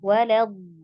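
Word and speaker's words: وَلَد: Jadi harus alirkan dulu. Jadi jangan buru-buru bacanya. Walad. Sambil tekan, sambil alir suara.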